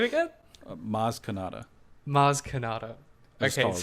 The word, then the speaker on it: Maz Kanata: she remembers that kaz kaz kazmi kazma okay mars canada maz canada you had all the right letters phonetically it sounded like a star wars name